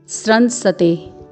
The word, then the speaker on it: स्रंसते: फिर है स्रंसते, स्रन, जो कि अर्धवर्ण दंत्य स और पूर्ण वर्ण र के संयोग से बना है, श्र, और ऊपर अनुस्वार है। फिर है पूर्ण दंत्य स, फिर पूर्ण वर्ण त है जिसमें ए का स्वर है। तो इसका उच्चारण होगा स्रंसते। फिर है हस्तात्, आपको यहाँ